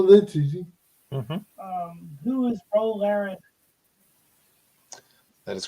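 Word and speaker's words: Ro Laren: easy um who is RO Len that is correct you got to say it right dude it's row row row your boat oh the other character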